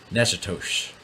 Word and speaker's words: Natchitoches: Natchitoches. This is what I understand that city to be pronounced as in Louisiana. We have Nacogdoches, Texas, and Natchitoches, Louisiana.